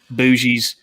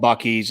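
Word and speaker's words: Buc-ee's: uh while we were in texas called buckies bougies but it's really called buckies it's a fantastic store uh all the people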